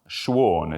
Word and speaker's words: Schuon: Third of three, is Frithjof Schuon, if that's correctly pronounced.